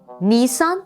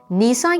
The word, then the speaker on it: nisan: kalkmış Artık salep olmuş Nisan kelimesinde ise il sesi uzundur Aslında köken itibarıyla süryanicede dilimize girmiş bir kelime nisan yağmuru diye kısa söylememeliyiz nisan yağmuru nisan ayı şeklinde i sesini uzun telaffuz etmeliyiz